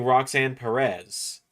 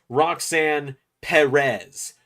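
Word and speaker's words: Roxanne Perez: I was saying Roxan Perez the way I always do and someone commented it's pronounced Roxan Perez, not Roxan Perez.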